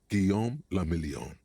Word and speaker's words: Guillaume Lamillion: Guillaume Lamillion. He sounds important. If it doesn't rhyme, you're not pronouncing it right.